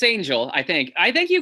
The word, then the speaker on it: Angell: so eric so now your last name is angel but with two else yes oh did i say it correctly though yeah it's angel i think i think